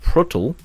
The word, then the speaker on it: PRTL: They do include the Cheetah PRTL, pronounced Pruttel, or Panzerruppers Tegen Luchtdoelen,